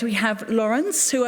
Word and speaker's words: Laurens: right right we have lawrence who i was told i could pronounce it as lawrence of arabia so i have that